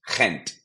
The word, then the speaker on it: Gent: of Belgium which is Flemish similar to Dutch it's pronounced Kent now there's of course